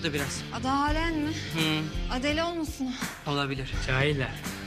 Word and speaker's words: Adele: Adele olmasın? Olabilir. Cahiller. Adele diye yazılır, Adel diye okunur.